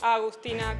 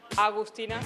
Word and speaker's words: Agustina: My name is Agustina. That's how you pronounce it. It's not August, it's Agustina. It's not a U after the A.